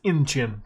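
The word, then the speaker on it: Incheon: It may surprise you, but I was wrong on the name pronunciation. It's Inchin.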